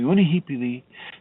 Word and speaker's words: Unihipili: That's spelled Unihee, P as in Paul, L as in love, Unihipili. The middle self is spelled, it is called Uhane, and that's Uhan as in Nancy, E.